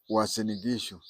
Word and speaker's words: Uasin Gishu: Uasin Gishu. Yes, you heard me properly when I said Uasin Gishu. Uasin Gishu, the same spelling, the same pronunciation, and the same meaning as Uasin Gishu in Eldoret.